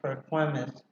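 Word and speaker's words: Perquimans: And another one in North Carolina for Chatwin, Pasquotank, and Perkins is how it's pronounced.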